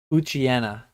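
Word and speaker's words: Poochyena: I always say Puchiena. Puchiena? Puchiena? I'll let you know when I get there. Yeah. Oh yeah, Puchiena. Yeah. Pucci and then like hyena. Yeah. I'm a Puchiena.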